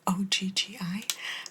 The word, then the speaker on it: oggi: Because that could look like the word oggi, O-G-G-I, but it's oggi, oggi, and oggi is today. My battery is dying adesso, not just oggi, but adesso, which is right now.